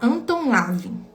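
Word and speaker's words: Anton LaVey: Mas ele é um nome bem difícil de de pronunciar ele em um alemão. É Anton Esandor Living. Lavin, então é melhor falar Anton Lavin, tá?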